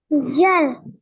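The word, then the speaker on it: ذال: হ্যাঁ, তাহলে এটা হলো জিহ্বার আগা, সামনের উপরে 2 দাঁতের আগার সাথে লাগায় উচ্চারণ করতে হবে। এটা 3 আলিফ টান দিতে হবে।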